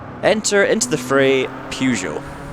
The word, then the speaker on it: Peugeot: enter into The Fray Peugeot that is how I pronounce it by the way I'm Scottish we all pronounce it Peugeot not Peugeot without arguments about this